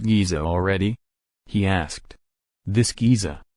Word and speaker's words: Giza: already he asked this Giza Hassan agreed he pronounced it more like J I always thought the